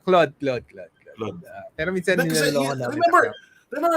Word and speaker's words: Claude: How do you pronounce it? Cloud or Claude? Wala, Claude.